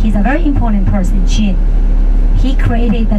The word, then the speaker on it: Qin: Qin. Pronounce it. Qin.